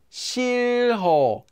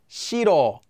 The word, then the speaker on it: 싫어: Anytime you have a hyeot, that's this letter here, that comes between two syllables with the empty consonant, the hyeot sound will simply disappear. For an example, 싫어, 싫어, 싫어, 싫어. Notice that it just naturally disappears when said quickly because the H sound isn't really that strong to stay there.